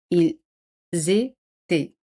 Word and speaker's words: ils étaient: Se hace la liaison. Aquí la liaison es obligatorio. Ils étaient. E en T no se pronuncian. Ils étaient.